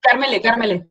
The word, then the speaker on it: Karmele: Carmele, Ah, con E. pronunciándola E.